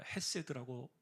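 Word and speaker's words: חֶסֶד: 자, 이게 6장에 사실은 키 포인트인데 근데 여러분 이해라는 말 이내라는 말이에 구약의 히브리어 언어로는 우리가 헤세드라고 읽습니다.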